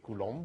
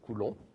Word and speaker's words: Coulomb: That's a French person, so we don't really say Coulomb, we say Coulomb. We don't pronounce the B on the end.